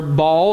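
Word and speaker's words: Baal: of that kind but we know the word Bell don't we or ball if you want to say it like that but it's it's a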